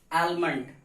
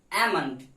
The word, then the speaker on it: almond: लोग क्या पढ़ते हैं, आलमंड। क्या पढ़ते हैं, आलमंड, but this is wrong pronunciation of this word. The right pronunciation of this word is almond because L is silent.